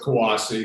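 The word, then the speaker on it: CUAHSI: socialization so um as we said i'm with kawasi this is how you this is how you pronounce it that our name is sometimes mispronounced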